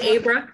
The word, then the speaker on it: Abra: It's Abra, she pronounces it.